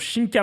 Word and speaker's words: Shink: OK alors qu'est-ce que je partons sur Shinkka maintenant. Shink ça dit comme ça.